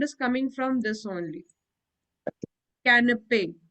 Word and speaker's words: canapé: Canapé. This A sound is coming canapé. because of this only.